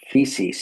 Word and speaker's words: Physis: A fisc is that is or actually it's pronounced feces in Greek.